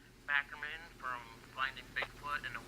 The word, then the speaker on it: Barackman: Barackman from Finding Bigfoot and a well-known Bigfoot researcher. How are you today? I'm doing okay. But it's Barackman, for whatever that's worth. Cliff Barackman.